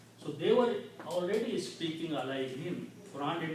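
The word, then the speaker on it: عليهم: We just, for the ease of the pronunciation, we pronounce this kasra.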